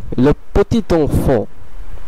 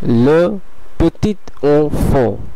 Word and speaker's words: le petit enfant: এরপরের অ্যাডজেক্টিভগুলোতে আমরা দেখতে পাচ্ছি এখানে একটি ছোট ফ্রেজ আছে, এই ফ্রেজটির উচ্চারণ হবে le petit enfant, le petit enfant, le petit enfant।